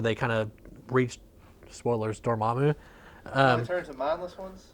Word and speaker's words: Dormammu: And that is how you say it, Dormammu.